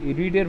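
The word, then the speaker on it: read: Verb 3, রিডের verb 3 বানানটা একই থাকে, উচ্চারণটা আলাদা হয়ে যাবে, রেড হয়ে যাবে, রেড, তারপরে বাই, তারপরে মি।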